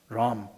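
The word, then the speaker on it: רום: 이 볼드라는 말은 영어식으로 발음하면 R-U-M, 럼입니다. 럼.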